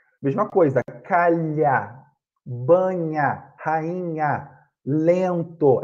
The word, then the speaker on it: lento: Calha, banha, rainha, lento. É a mesma coisa. Lento. A gente não pronuncia o N. A gente faz o som do E pelo nariz, né?